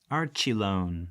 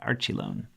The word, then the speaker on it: Archelon: this is a turtle Archelon Archie lone that's how you say it Archie lone so it's an ancient